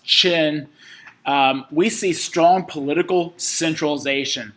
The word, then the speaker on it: Qin: need to associate with china starting here with the classical foundational period for one starting with the qin dynasty it's spelled q-i-n but pronounced chin we see strong political